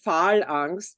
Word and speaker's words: Phal:Angst: We pronounce it Phal Angst because basically, do you want me to tell a little bit about the name?